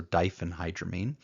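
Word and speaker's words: diphenhydramine: in your life now I pronounced the first one dipen hydramine I've heard other people make a f sound so Dien hydramine but it's just badril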